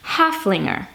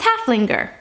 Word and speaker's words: Haflinger: The company is called Haflinger. I think you don't pronounce the G as a hard G, but if you do, it's Haflinger. I don't think that's it.